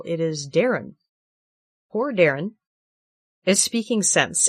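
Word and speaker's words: Daeron: Uh, I'll say, uh, his name is spelled strange, but it is pronounced normal. It is Darren.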